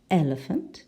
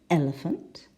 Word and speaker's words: elephant: giraffe in number two we have elephant the first syllable elephant number three we have secondary